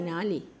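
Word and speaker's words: 哪里: এই দুইটা যদি পরপর থাকে তাহলে প্রথমটা রাইজিং উচ্চারণ হবে।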